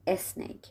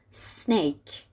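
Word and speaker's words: snake: بگن اس تلفظ میشه مثلا نمیگیم اسنیک میگیم سنیک اور ما نمیگیم استور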